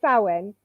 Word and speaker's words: Samhain: So this here is one of those tricky words that you have to learn just how it's said. And it's Samhain.